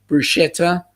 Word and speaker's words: bruschetta: he tells others that the k sound belongs in bruschetta there's not a shirt in the beautiful italian word yup i i wouldn't even pronounce it with a k there either to be quite honest papa um for me that's uh that whole sch is definitely a shi sound um rob you you